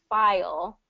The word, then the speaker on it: file: wondering about fire and file so let me get these between so file we have to have that that um that dark l in there whereas fire fire and